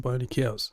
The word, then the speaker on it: BioniChaos: You can just Well, first it's pronounced pronounced bionic chaos, I think, as in bionics is biology and electronics.